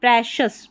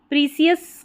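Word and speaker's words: precious: प्र सी आई ओ यू एस को शस प्रेशस प्रेशस पढ़ना है। अब इसको ऐसे पढ़े प्रेशस उच्चारण प्रिसियस की जगह प्रेशियस पढ़ देना प्रेशस एंड कई लोग इसको प्रिशियस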